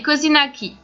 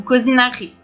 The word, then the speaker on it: kozinaki: Pour faire des cozinaki ou cozinari, la prononciation dépendra du pays où vous mangerez ces petites merveilles.